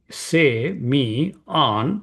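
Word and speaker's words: σημεῖον: So semon strongs number 4592 it's a Greek seion semi say me on that's how it is pronounced and its meaning is a sign mark a token.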